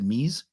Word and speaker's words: mise: It's spelled M-I-S-E, but you pronounce it mise? It's mise. So it's mise, short for mise en place.